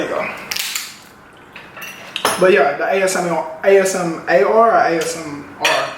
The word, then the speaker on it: ASMR: Am I saying it right? ASMR? Yeah. They're pronouncing it right.